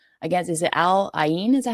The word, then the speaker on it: Al Ain: but they put up 6 against, is it Al Ain? Is that how you say it? Al Ain, yeah.